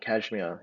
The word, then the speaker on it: KSHMR: Um, there's a producer called Kashmir. He's a EDM. It's spelled KSHMR.